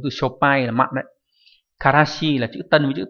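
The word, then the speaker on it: 辛子: Karashi là chữ tân với chữ tử là một loại mù tạt dùng để làm gia vị.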